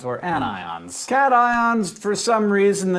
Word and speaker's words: anion: become negative are anions you'll notice despite the rules of English that these are pronounced cations and anions not patient's in anyons the most basic ions